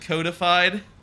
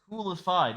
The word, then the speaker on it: Coolified: You always pronounce it codified? Is it... Coolified. Yeah, coolified. Coolified gaming.